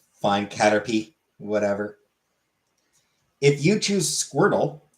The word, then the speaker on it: Caterpie: Caterpie, not pie. But it's spelled with an I-E. But it's spelled P-I-E. Fine, Caterpie, whatever.